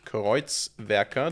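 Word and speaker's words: kreuzwerker: So this is Koitz Vea. This is how it's pronounced. I think it's German.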